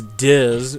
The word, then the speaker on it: DiZ: you have this guy known as dis who rhymes with jizz and so and he's